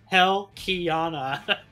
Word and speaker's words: Helkhiana: and was all like, no, it's Helkhiana, where I actually heard you say it officially, that got me to properly pronounce it.